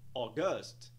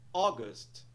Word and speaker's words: August: de forma errada colocássemos o stress na segunda sílaba palavra soaria como August August August nada de August pessoal pronúncia correta é August August podemos ver aí que a nossa pronúncia